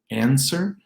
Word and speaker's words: answer: There's no W in answer, answer.